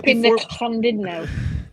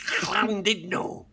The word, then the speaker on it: Llandudno: But before you Llandudno. You're pronouncing it wrong. Hope. You're pronouncing it all wrong. It's Llandudno. You're pronouncing like an English person, you swine.